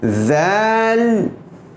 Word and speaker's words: ذال: ملاحظہ فرمائیے۔ یہاں ذال، ذال، چونکہ ذال باریک حرف ہے اس لیے میں منہ کو چوڑا کر کے اس کو ادا کر رہا ہوں۔ ذال، ذال، ذال کے